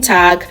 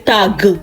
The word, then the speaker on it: Tag: The pronunciation of G in this word is K, Tag. You don't say tag, it is Tag, good.